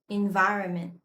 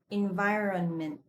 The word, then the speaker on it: environment: Environment. I hear a lot of pronunciation mistakes of this word. Some people pronounce it environment. Environment. But this is pronounced environment.